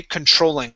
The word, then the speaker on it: controlling: Okay, so our stress is right here in the middle of the word. Okay, controlling.